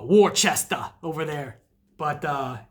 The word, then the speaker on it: Worcester: Or as they call it, Worcester over there. But it's pronounced Worcester, Mass.